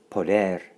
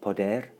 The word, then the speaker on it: poder: and all means all poder poder poder excellent pronunciation little trill on the end of poder and poder means they